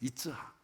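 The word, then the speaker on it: יצחק: 이삭, 이츠학이라고 하는 거예요. 히브리어 발음 이츠학.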